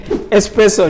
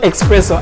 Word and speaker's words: espresso: Espresso, not espresso as some people pronounce it.